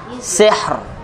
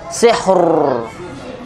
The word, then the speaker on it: sihr: contohnya eh Hijr Hijr sihr sihr bukan sihur zikr zikr zikr Hijr